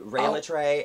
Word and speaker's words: Rhea Litre: to social media uh rey latrey everywhere it's true and that's how you pronounce my name goddammit yeah rey in